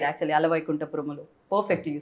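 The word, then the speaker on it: Ala Vaikunthapurramuloo: you said it right actually, Ala Vaikuntha Paramalu.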